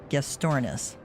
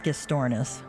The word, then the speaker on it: Gastornis: I heard it's pronounced Gastornis. Pretty sure it was that. That was how we learned. There's like multiple pronunciations of it apparently, but the one that we seemed to settle on was Gastornis.